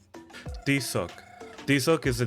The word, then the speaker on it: Tizoc: Tizoc. Tizoc.